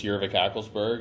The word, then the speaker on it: Urevick-Ackelsberg: If you want to hear it pronounced, it's Urevick-Ackelsberg, and I did not give that hyphenated curse to my children.